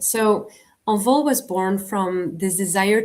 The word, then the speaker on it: Envol: How do you actually say it? I say Envol. You say it right, Envol. Okay, because I actually Googled how to say this in French, and that's so I was like Envol. I think that's how you say it, not Envol. Envol.